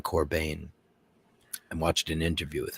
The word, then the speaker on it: Corbijn: And it's Corbijn. I always say his name wrong. It's Anton Corbijn.